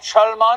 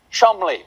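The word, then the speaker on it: Cholmondeley: me the maress of Chand what a beautiful name that I'm being told right now that I pronounce incorrectly it is in fact pronounced Chum Counterpoint no it's not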